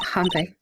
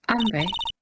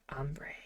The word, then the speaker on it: hombre: Not Hanre. Hombre. Yeah, you're right. The H is silent. Yeah. Ombre.